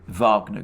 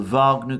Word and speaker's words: Wagner: the way pronounce it wagner group um pronouncing the w as a v as in the composer richard wagner but of course russians